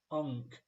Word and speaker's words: Ng: wanted to clarify that Singaporean surname is pronounced as HK like saying honk but dropping the h so I did actually